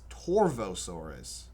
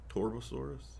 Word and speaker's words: Torvosaurus: Torvosaurus. There's a V. Oh, but in most languages V is pronounced like B. Torbosaurus.